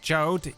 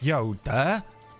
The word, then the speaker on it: Jode: It is not pronounced Jode. It is Yoda.